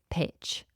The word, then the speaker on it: pitch: So being very careful with that particular sound at the end. We spell pitch, P-I-T-C-H. Pitch. Pitch. So the T kind of gets swallowed into the CH, but you still have to make this strong ch sound.